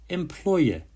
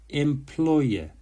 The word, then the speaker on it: employer: Employer. Employer. The stress is on the second syllable, ploy.